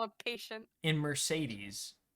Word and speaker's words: Mercedes: call a patient in Mercedes all three E's are pronounced differently correct that name's [